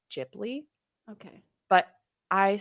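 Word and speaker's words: Ghibli: I ask a question is it gibli or jibli so there are people who pronounce it both ways Tech technically I think I've heard that it is supposed to be jibli okay but I say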